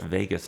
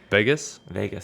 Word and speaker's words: vagus: So I think doing that stimulates your vagus nerve, which I don't know much about it. I was reading something about it in a book the other day. Vegas? Interesting. Las Vegas. Yeah. Except it's spelled Vagus.